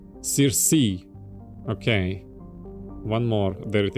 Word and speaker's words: Circe: As the development of the Proteus colony continues, you see, Circe will likely be developed for helium-3 mining. Okay. It's Greek. Ah. But the English pronunciation is kind of like Circe.